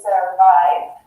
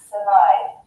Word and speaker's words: survive: For example, you'll hear it in survive. So we don't say survive, we say survive.